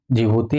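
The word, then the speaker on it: Djibouti: ये इथोपिया है, ये जिबूती है जिसको डी साइलेंट होता है, और ये अपना सोमालिया है।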